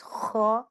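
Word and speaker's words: ح: This one हा like breathe but pronounce from the middle part of the throat and ha top part of the throat. Pronounce from the top part of the throat this ha and thick sound and a little bit like ha.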